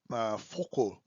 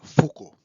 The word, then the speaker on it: Foucault: नाउ वी are entering to the part 3 ऑफ our lecture, this Foucault, Michel Foucault, right pronunciation, okay.